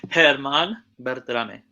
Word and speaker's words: Germán Berterame: If he comes on, um, and how do you pronounce his name again? Because I already got clown on in the chat for Herman Bertame.